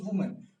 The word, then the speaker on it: woman: उसी तरह woman, this is pronounced as वुमन, इसे कैसे प्रोनाउंस करते हैं दोस्तों? वुमन, विच इज सिंगुलर, और प्लूरल में हो जाएगा विमेन, राइट।